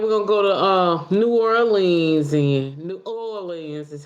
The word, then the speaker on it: New Orleans: And she was like, "We're gonna go to New Orleans, and New Orleans is how you say it."